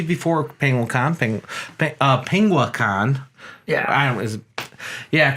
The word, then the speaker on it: Penguicon: penguicon thing but uh penguicon yeah I was yeah cuz someone will yell at you if you mispronounce it but spring believe it's penguicon they are May fourth